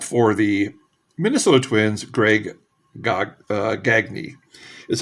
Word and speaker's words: Gagne: And the final card in the first segment is a shortstop for the Minnesota Twins, Greg Gagne is how they pronounce it. I know it should be Gagne, like Eric Gagne, but it wasn't.